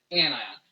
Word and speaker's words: anion: spelled onion wrong but we pronounce it anion because we want that ion part still be an important piece of that word so chlorine is an anion it's just a negative